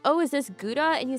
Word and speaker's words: Gouda: Howa good until you get that fat overload. Yeah, cuz guys it's not pronounced ga like b cheese.